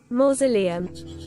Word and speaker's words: mausoleum: Mausoleum. Ja, Mausoleum. More. Nicht Mau, sondern More.